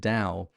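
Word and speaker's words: Tao: Apes you see what a distorted tow or da however you prefer to pronounce it you can see how a distorted Dow leads to a distorted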